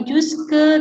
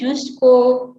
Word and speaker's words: jusqu'au: Selanjutnya bacaannya bukan jusque tapi jusqu'au, karena au dibacanya o kan.